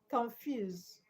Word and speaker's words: confuse: So the stress goes to the second syllable confuse.